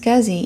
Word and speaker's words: SCSI: drive to the PC an SCSI pronounced scuzzy interface is usually for